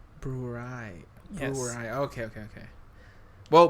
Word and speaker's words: Brouwerij: So, the brewery that the beer comes from is actually pronounced Brewery. Brewery.